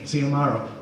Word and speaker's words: Xiomaro: So I thought that was a really good name, Xiomaro. Problem is nobody can pronounce it because of the X, right? The X is pronounced like an S in Spanish.